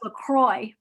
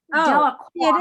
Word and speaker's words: Delacroix: Just if Yeah, you're, I thought it was pronounced LaCroix. Delacroix it is.